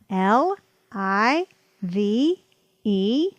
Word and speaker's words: live: believed believed here are two more words that do not follow the two vowel rule l i v e live live live g